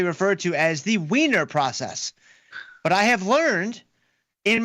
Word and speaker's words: Wiener process: the source of it all, the whiner process. Now, in the past, I have referred to this because it's correctly referred to as the wiener process, but I have learned in my study that